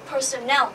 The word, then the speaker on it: personnel: Ở đây, các bạn chú ý cho mình, đó là ở đây cái từ personnel sẽ đọc là L, không phải là O nhé, như là personal. Đó, đây là một từ khác này, đọc cho mình lại lần nữa nhé.